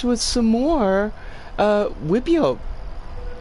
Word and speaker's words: wipEout: some more uh wipio wipio is uh that's i'm convinced that's how it's pronounced you we could clearly see i mean actually it's more of like a a whippy ob i'm pretty sure that's a beat there like it like he